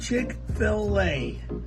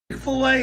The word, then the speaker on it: Chick-fil-A: Chick-fil-A, it's CHICK. Let's spell it for you. FIL for Phil, and then the letter A, Thank capital you. A. Thanks. Chick-fil-A, go eat there.